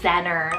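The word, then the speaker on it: Zennor: the Sea or little Mary then we have zenner spelled z-e-n-n-o-r zenner and this one's actually a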